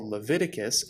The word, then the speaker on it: Leviticus: bible and the torah it's called leviticus emphasis on the levi because it's mainly concerned